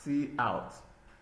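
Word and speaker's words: cout: Then we have see out pronounced as see out is an object used together with the insertion operator.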